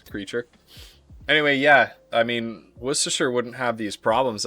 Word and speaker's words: Worcestershire: Can y'all agree on how it's said, please? It's Worcestershire. Worcestershire.